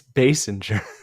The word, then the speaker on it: Basinger: Kim Basinger, Ah, but it's Basinger. She's but it like passenger.